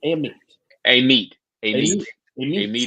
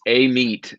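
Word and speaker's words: Amite: wait what is it is it aimite or Amy a meat is how you say yep I've never known how to sing it's it's a meat um which uh Alien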